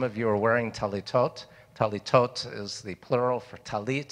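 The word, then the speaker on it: טליתות: you are wearing teletot talitot is the plural for talit sometimes it's called talus which is the ashkenazi uh pronunciation teletot is the sephardic and the way they say it in israel these days you'll notice on the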